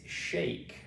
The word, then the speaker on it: shake: Okay, next one we have is shake. Okay, shake. Shake. Okay, shake. I will shake your hand. Okay, shake. Shake. Okay, so again the E joins the A to make the A sound.